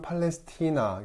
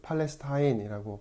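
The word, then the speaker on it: Palestina: 자, 팔레스타인, 라틴 발음으로는 팔레스티나, 성서적으로는 팔레스티나라고 발음하는 것이 더 자연스러운데, 현대에서는 팔레스타인이라고 발음을 합니다.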